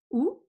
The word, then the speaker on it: au: of those phrases add the word oh it's pronounced oh but it's spelled a you so when you